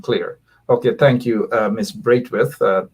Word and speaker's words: Braithwaite: Braithwaite. Some people pronounce it as Brafit.